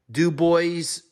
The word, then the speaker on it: DuBois: Virginia played something called do boys do boy dream I think the S is silent in the first round